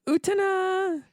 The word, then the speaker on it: Utena: Maybe you should watch some Not There Utna. Some of that there Utna? Some Not There Utna. I got one dude already who complained about how we pronounce Utena. Except the way Wakaba pronounces it is Utena.